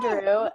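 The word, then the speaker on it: Durupt: Yeah, and then I'm gonna risk saying her name wrong, but Lisa Giroux, I think is how you say it. That's right, Lisa Giroux.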